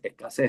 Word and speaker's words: escasez: Escasez, ahí le falta la Z al final porque se escribe con Z, escasez.